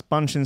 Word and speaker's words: Bunshin: that's great record that's clueless by bunshin that's bunching spelt with to use Buu n sh I n